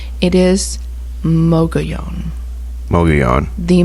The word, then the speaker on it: Mogollon: know algalon no I have heard people say Mongolian I have heard Mogollon I've heard McGeehan I've heard mug alone it is mocha Yong bogey on the Moga yon monster from the Mogollon Rim from the girl